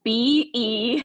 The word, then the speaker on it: Behki: Well, on Facebook, I'm Behki, but Becky is spelled different. So it's Behki.